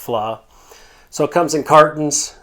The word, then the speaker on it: vla: but it's called flaw that's VLA but it's pronounced flaw so it comes in